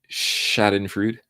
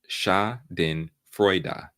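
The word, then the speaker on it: Schadenfreude: the word I don't know if you get Shaden fruit Shaden fruit Shaden fruit is a compound of the German word words shadin meaning harm in Freud meaning Joy it's pronounced shadin frea ah Shaden frea okay and the word is full of it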